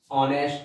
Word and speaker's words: honest: Ram is an honest boy. Although the word begins with H, but the sound is O, not H, and therefore we are to use article N.